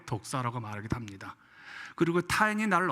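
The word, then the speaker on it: δόξα: 발음이 독사라고 하는데, 이제 이 의미는 생각하다, 믿다 라는 동사 도케오라는 에서 유래한 단어입니다.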